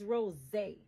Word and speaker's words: rosé: but this one like I said it's Rosé so it's not Rose and Rose in French is not Rosé it's just Rose it's the same thing it just has a little bit of an accent on the r as far as I